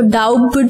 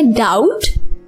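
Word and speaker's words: doubt: डाउट, इसमें बी जो है वो साइलेंट है, हम इसको डाउट नहीं पढ़ेंगे, हम इसको पढ़ेंगे डाउट।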